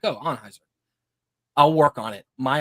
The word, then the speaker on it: Anheuser: of his life and it's officially pronounced Anheuser as in the name Anne yeah you know I